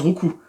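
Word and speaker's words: Roucool: Le petit Roucou, ce qui se prononce Roucou d'ailleurs. Vous savez ça hein? Je suis pas sûr que vous saviez, ça se prononce Roucou.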